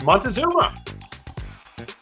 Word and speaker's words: Montezuma: This is Montezuma, or Moctezuma, as some like to pronounce it.